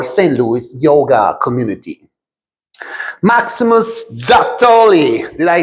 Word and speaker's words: Dattoli: Maximus Dattoli. Did I say it right? You said it perfect. Dattoli?